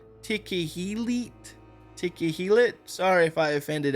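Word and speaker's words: תכלת: So clearly the word blue is in the Bible and apparently it's pronounced tequellet.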